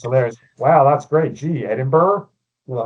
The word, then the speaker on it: Edinburgh: Well, first off, don't call it Edinburg. You will get stabbed. Uh, no, you won't get stabbed. Sorry, it's it's Edinburgh.